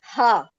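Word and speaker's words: ة: we call it as ha, we pronounce it as ha, not call, we pronounce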